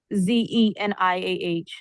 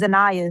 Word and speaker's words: Zanaya: My name is Zanaya. Zeniah. I don't know who the first person is, but yeah. He's not here. That's not my name though. My name is Zanaya.